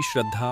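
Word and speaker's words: श्रीं: अब पूरी श्रद्धा और एकाग्रता के साथ श्री बीज मंत्र का उच्चारण करें। इस मंत्र का सही उच्चारण होगा। श्री श्री हर उच्चारण लंबा और शुद्ध होना चाहिए।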